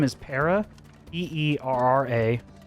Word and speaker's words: Para: How do you spell that? Her first name is Para, Peerra, and it's Thava, Thava.